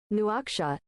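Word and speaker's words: Nouakchott: Newakshot.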